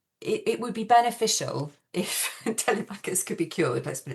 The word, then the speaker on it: Telemachus: because a little lad Telemachus, as the play insists you pronounce his name, Telemachus, turns up with a letter saying that he has an ailment.